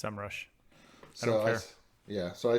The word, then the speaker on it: SEMrush: It's SEMrush.